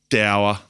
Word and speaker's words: dour: Do you know it's actually pronounced doer? Is it actually? Yeah. In the English language, it's actually pronounced doer.